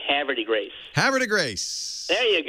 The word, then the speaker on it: Havre de Grace: but I would say Havre de Grace. Well, you have to pretend that French were never invented and speak like the Beverly Hillbillies and say Havre de Grace.